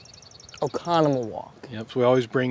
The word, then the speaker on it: Oconomowoc: He's here mostly to help me pronounce. Oconomowoc.